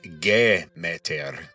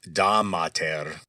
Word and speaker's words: Demeter: the chief deity and Demeter, which in Attic Greek would be pronounced Gemeter, kind of like Gemeter. Now, that GE might ring a bell. Ge or Gaia is earth in Greek. So in Doric Greek, Demeter was Damater.